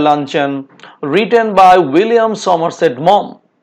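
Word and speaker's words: Maugham: Short story the luncheon written by William Somerset মম, তো উচ্চারণটা হবে মম।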